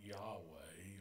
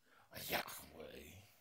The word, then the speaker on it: Yahweh: We call it Yahweh or Yahweh because we have preference for vowels. But the Y, the H, the WH represents breathing sounds or aspirated consonants. When pronounced without intervening vowels, it actually sounds like breathing.